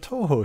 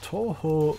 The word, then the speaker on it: Touhou: a little bit of Touhou here. If you don't know what that is, I can give you a quick rundown. It's basically a bunch of shooting games. It's pronounced like boot.